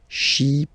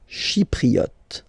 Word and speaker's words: Chypriote: Remember this Y is pronounced like I. Okay. Chypriote. Chypriote.